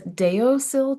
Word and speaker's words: Deosil: It's Deosil Designs, and it's DEO like deodorant, SIL like silly, and then the word designs.